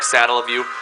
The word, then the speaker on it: Satellaview: Not many people know how to exactly pronounce it. I'm pretty sure it's like Satellaview.